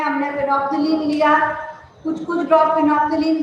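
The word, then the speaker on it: phenolphthalein: Spelling board पे से check कर लेना, इट इज फिनोक्सिलीन, एल साइलेंट हो जाता है।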